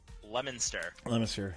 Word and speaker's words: Leominster: How do you say it again? Leominster. Like a lemon.